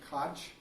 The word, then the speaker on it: Koch: it like you know in German they kind of clear your throat a little bit when you're going you know some people pronounce a Koch there is you know lots of different pronunciation once kind of more of the American English pronunciation the other ones probably more of the German pronunciation anyway he came up